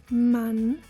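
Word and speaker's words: Mann: Zama zoma meaning summer double n as in man man meaning man Double T as in bed bed meaning bed did you find out what happened right if you find double consonants it signals that the preceding vowel is short zoma man bet you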